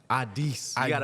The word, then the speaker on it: Addis: Addis. You gotta put a little bit of chest in.